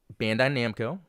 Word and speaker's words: Bandai Namco: video released on it and you know fortunate Bandai Namco did I say it right that time yes